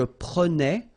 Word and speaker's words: prenais: So same thing here, final S not pronounced.